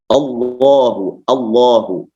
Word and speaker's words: Allah: Itu menjadi Allahu, itu Allahu ya. Jadi tidak Allahu, tidak Allah. Tapi Allah dibacanya taglil. Taglil itu tebal, melebihi tebalnya tafkhim gitu.